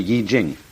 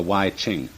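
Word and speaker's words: Yijing: book of changes called the yi jing not the y ching uh i'm afraid that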